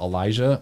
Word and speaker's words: Elijah: And Elijah. He was saying, oh, Elijah. And we were like, no, Elijah. He's like, Elijah. No, it's Elijah. Elijah. Elijah. And he was like, oh, Elijah. How do you spell it? And we said, E-L-I-J-A-H.